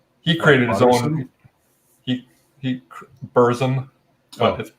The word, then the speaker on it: Burzum: reference as well he created his own he Burzum oh it's pronounced barson he he how many use does that have